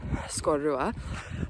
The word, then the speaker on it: Sgòrr Ruadh: So at the time when I mispronounced the name of that Monroe I was mad about it at the time and I'm still mad about it. So yes, it's just Ben Leavore and um Scorua.